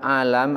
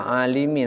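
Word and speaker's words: عالَم: waam annalama ketahuilah bahwasanya alam dibaca alam alam bifathil Lami Imam baicuri menjelaskan cara membacanya alam itu bifathil Lami dengan memfathahkan hukum huruf lam bifathil Lami jadi enggak tersesat lagi ini tidak alimi Nanti kalau alimi jadi pandai kalau alam jadi alam jadi baru yang dimaksud dengan alam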